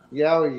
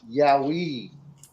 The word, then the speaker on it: yowie: Yowie is actually the kind of corner phrase by white fellas, but it's actually pronounced yowie, not yowie, which is the noise they make.